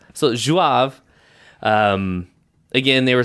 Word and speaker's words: Zouave: It's Zouave. So Zouave.